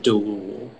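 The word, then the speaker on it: deloul: It's just delul. Delul? No, it's delul. Delul. Yeah. Can you repeat the definition again? It's a special breed of Arabian camels used for rapid traveling. Delul. Am I saying it right? It sounds right. Are there any alternate pronunciations? It's just the one, delul. Delul.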